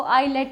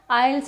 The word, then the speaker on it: IELTS: देखो, in India specially in Haryana student आइल्स को आईलेट बोलते हैं, आईलेट्स बोलते हैं, आईलेट बोलते हैं। हमें आईलेट करना है जी, ठीक है। वो आइल्स करने आते हैं जबकि उनको आइल्स की प्रोनाउंसिएशन पता नहीं होती। गाइज, आइल्स में टी साइलेंट हो जाता है, हम टी बिल्कुल ख़त्म करके इसको आइल्स बोलते हैं, ठीक है।